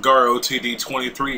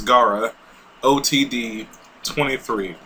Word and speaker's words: GarOTD23: Hey everybody, welcome back to another Pokemon Showdown with GarOTD23. Yes, that's how you say my name. Please don't get it wrong anymore, guys. I know it might be a little confusing, but it's GarOTD23.